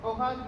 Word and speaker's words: hoja: In Spanish, a sheet of paper is hoja de papel. So the H, when it's at the beginning of a word, is pronounced silently, and the J, wherever it is always pronounced silently in Spanish.